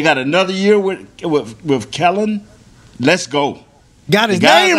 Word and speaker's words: Kellen: another year with with kellen let's go got his game right now got my man's name right kellen not keller oh yeah because he